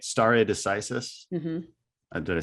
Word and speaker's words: stare decisis: Stare decisis.